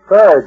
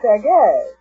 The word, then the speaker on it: Sergei: Serge Rachmaninoff, huh? Well, that's what it says here. Oh, it's pronounced Sergei.